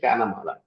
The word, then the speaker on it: chamala: Uh the pronunciation that we normally we call it a chamala chu plus mala.